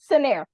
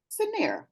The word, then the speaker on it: Cinnaire: us all the name of your company properly pronounce it for us senere scener okay thank you so Sharita joins nairs Detroit